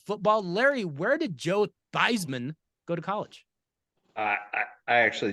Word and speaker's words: Theismann: school but in college he changed the pronunciation to Theisman because it rhymed with Heisman he never won the